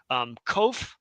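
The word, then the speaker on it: קוף: Kof is a harder K or a Q even than the kaf, but mostly the same.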